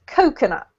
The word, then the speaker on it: coconut: Coconut has the emphasis on the first syllable, so it's coconut.